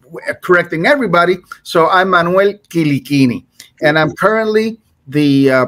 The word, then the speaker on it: Quilichini: i but uh uh Corsica was part of Italy at one point in time so it's Italian pronunciation so the correct pronunciation is quini but we say but